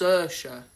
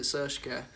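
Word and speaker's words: Saoirse: It's pronounced Sersha. Sorry. I apologise. Hmm? And someone said, can you pronounce this name? And I was like, isn't it Sershka?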